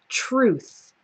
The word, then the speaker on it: truth: the noun form is truth okay so it starts with tr u and then it ends with the same th sound like in teeth so that's very difficult